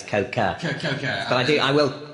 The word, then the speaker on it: coca: obviously Coke does come from the cocoa plant or tree, so there's a little bit of truth mixed in there. It's not actually cocoa, it's coca.